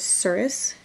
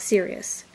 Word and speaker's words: Surus: The main character is Surus, not Sirius. The reason it is Surus is because you can pronounce the I or the U towards the end.